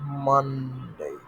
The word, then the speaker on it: Monday: Monday. Tuesday, Tuesday becomes Tues. So S এর জায়গায় we pronounce Z.